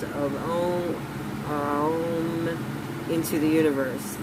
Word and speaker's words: Om: the 3 sounds of Om into the universe. There are 3 syllables present in the word Om, and they are Ah plus O plus So it was only